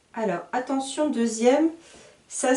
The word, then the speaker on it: deuxième: de lille hier deux sous les lits ma deuxième alors attention deuxième ça s'écrit comme ceux-ci deuxième d eux une x